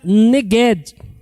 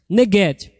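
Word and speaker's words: נגד: ele significa o seguinte é uma palavra que no hebraico se pronuncia negged negede Ok e o que significa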